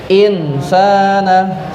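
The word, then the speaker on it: إِنْسَانَ: Insana. 1, 2, 3. Nah, tulisannya insana, dibacanya insana. Ya. Tulisannya insana dibaca insana, samar. Yang awalnya bunyinya in menjadi insana. Kenapa? Karena ada nun sukun bertemu dengan huruf sin.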